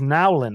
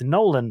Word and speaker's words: Nowlin: I've been pronouncing his name incorrectly as Nowlin, which is how it's spelled, but it's Nowlin pronounced, I believe.